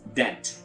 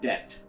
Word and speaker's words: debt: our next word is debt is debt B is not pronounced here so it's debt then you can have